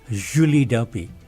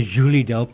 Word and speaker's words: Julie Delpy: So I should say Julie Delp. Julie. Julie. Delp. I love the French pronunciation of Julie.